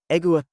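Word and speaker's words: égua: Egua rhymes with awa but the gwa sounds like guacamole.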